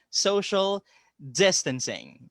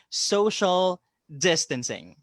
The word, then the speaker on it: social distancing: pronunciation for that is the accent falls on the first syllable so that's social distancing again social distancing that's how it goes